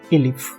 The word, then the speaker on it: elif: and if together okay so else and if together is pronounced as elif right so we don't